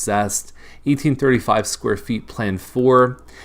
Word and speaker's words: Zest: it looks like zeus but it's pronounced zest 1835 square feet plan